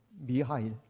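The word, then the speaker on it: Михаил: 있습니다 거기 보면 아 러시아 식으로 발음하면 미하이 어 우리 성경에 나온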